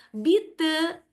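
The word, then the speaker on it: Bitte: untuk menjawab sama-sama itu kita bisa bilang bite. Bite. Iya. Ri dang ke ur ya. Saya tahu cara baca yang minta maaf.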